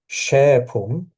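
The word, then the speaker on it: šēpum: Shepum, uh, this hat, the S with the hat, we read it as sh, even though we might not know for sure that's how it's said.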